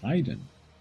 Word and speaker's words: Haiden: It's pronounced Haiden. Or hidden, yeah.